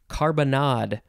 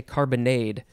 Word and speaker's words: carbonnade: our last word is carbonard i really want to say carbonade but it is carbonade n c-a-r-b-o-n-n-a d e